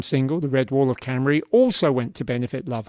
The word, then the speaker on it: Cymru: The Red Wall of Cymru, to give Wales its Welsh pronunciation, hopefully, in its own language, fulfills all the requirements of a good football anthem.